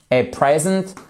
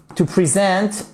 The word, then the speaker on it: present: dis attention parce que un cadeau qui se dit present vous avez l'accentuation ici sur la première syllabe et en plus vous c'est unok le verbe present on a l'accentuation qui est sur la seconde syllabe d'accord et ici le E se prononce comme un i cour la phonétique je